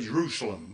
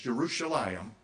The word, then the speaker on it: Jerusalem: it by the way they around here say Jerusalem but that's not the way it's pronounced it's jeruselam and it means the city of Peace okay